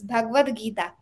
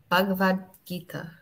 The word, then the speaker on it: Bhagavad Gita: The Bhagavad, how do you pronounce this word? Yeah, it's Bhagavad Gita. Bhagavad Gita.